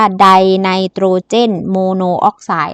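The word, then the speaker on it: ไดไนโตรเจนมอนอกไซด์: เอ่อ ใด ไนโตรเจน มอนอกไซด์ อัน นี้ อ่าน ว่า ใด ไนโตรเจน โมโน ออกไซด์ นะ คะ หรือ ได้ ไนโตรเจน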